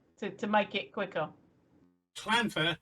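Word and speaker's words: Llanfair: Clanfair. So the first word clan. The double L isn't pronounced double L. It's pronounced clan.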